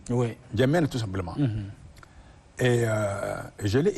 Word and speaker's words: N'Djamena: a fini par adopter N'Djamena. Et le nom a été écrit tel que c'est prononcé. Quand je suis revenu, j'ai écrit N'Djamena, N'Djamena sans N. Oui. N'Djamena tout simplement.